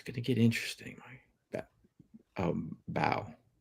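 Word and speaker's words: Mbow: Um, bow like Marcus. It's It's Marcus Bow. Okay. Like bow and arrow. Marcus Bow. You don't pronounce the M.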